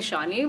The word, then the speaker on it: Ishaani: get proven out to india like it's called ishani but like they just don't know because it's